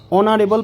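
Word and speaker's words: honorable: দেখো হি ইজ অ্যান অনারেবল person এখানে দেখো এইচ এর উচ্চারণ কি হয়েছে অ হয়েছে তাহলে এইচ এর উচ্চারণ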